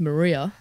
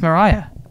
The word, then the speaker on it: Mariah: We can find more that says Maria.